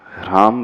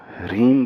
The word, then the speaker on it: ह्रीम: किया करो थोड़ा सा रीम नहीं ह्रीम राम नहीं राम ह पहले है र बाद में सभी में लेकिन सभी लोग